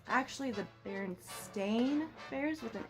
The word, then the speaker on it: Berenstain: Everybody remembers them, the Berenstain Bears, right? Is that what you remember? That's what I remember. Apparently, we are all wrong, and this took the internet by storm. It's actually the Berenstain Bears with an A, which just doesn't even